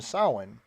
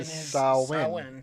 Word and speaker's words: Samhain: Danny brought up from Sawin which is spelled Samhain but it is a Gaelic pronunciation sahlan yeah and when the